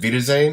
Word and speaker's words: Wiedersehen: entire podcast meter check is it be to Zayn is that the correct way to pronounce it there you go yeah because I'm so used to saying with with the off part it like alveta Zayn so I just I just cut off first part that's the title so